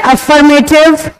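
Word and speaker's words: affirmative: सबसे पहले को हम कहते हैं अफर्मेटिव, इसमें आर साइलेंट होता है बेटा।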